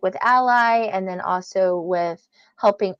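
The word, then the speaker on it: ALLi: mentioned and and we we pronounce it Ally because we believe that every self-published author needs an ally that's the easiest way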